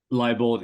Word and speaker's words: Liebold: Am I pronouncing that right, or am I getting fined? Is it Liebold? Liebold is exactly right.